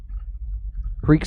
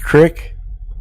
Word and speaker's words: creek: Isn't it pronounced crick? Maybe up in that fancy Connecticut territory or something like that. We said the creek. We emphasized the eeks.